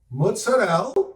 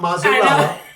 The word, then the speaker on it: mozzarella: We mix sausage, we mix pepperoni, mozzarella, and that's how you say it, not mozzarella, mozzarella.